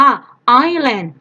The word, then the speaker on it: island: ๆ แต่ วิธี อ่าน S ตัว นี้ ไม่ ออก เสียง นะ คะ ไม่ ออก ตัว S เลย ก็ จะ อ่าน ว่า ไอร์แลนด์ นะ เอา ให้ นั่น